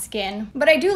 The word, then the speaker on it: SKKN: to happen with the skkn brand well it's pronounced skin but i do like that the name kind